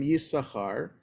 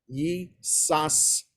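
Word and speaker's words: יששכר: how Hebrew is pronounced, if you just look at the name Yissachar, based on the rules of decoding Hebrew, it looks like it should be read Yisashar. And that this is an exception to the rule. You do not pronounce the second sin.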